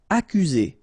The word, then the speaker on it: accuser: Accuser. You don't need to pronounce double C here, because normally we only pronounce this K.